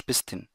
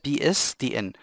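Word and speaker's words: PSTN: ومن فضلك ما تختصرهاش بستن، محدش بينطقها كده ومحدش بيقولها كده، اسمها بي اس تي ان.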